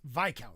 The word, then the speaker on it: Viscount: Viscount is pronounced VCO.